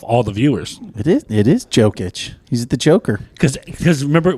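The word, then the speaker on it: Jokić: It is Jokic.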